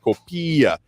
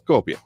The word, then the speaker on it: Copia: traffic announcer there, saying it's not pronounced Copia. It's Copia.